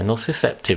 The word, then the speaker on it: nociceptive: gonna murder this pronunciation no septive pain how do you say that yeah nociceptive is what I say but you know yeah